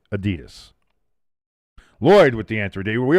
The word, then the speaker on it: Adidas: That would be, of course, the 3 stripes of Adidas, as the Europeans like to say, but we say it correctly, Adidas.